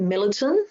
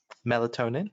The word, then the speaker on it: melatonin: in regards to sleep medication if is it militant am i pronouncing that correct kevin melatonin yeah yeah does not work for your patient